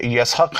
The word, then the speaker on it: یسحق: ہے حکمت والا خبردار۔ اسحاق اصل تلفظ کے اعتبار سے یسحق ہے۔ یہ عبرانی لفظ ہے جس کے معنی ہنستا